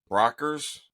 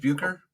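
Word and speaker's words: Bueckers: because they were talking about uh was it Brockers is that how you pronounce her last name from Yukon oh no uh uh ah geez Paige buer buer that's what it was buer yeah right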